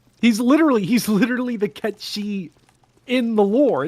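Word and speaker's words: Cait Sith: so if if you're if you're localizing don't just go with Kate Sith because that's what people said when they were 10 yeah that's such a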